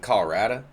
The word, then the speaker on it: Colorado: my home state of colorado is uh you got people from the prairie pronounced it colorada you got people from the city called colorado you got people to